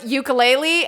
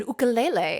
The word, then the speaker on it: ukulele: with the pronunciation so like uku is flee and lele is to jump so it's like a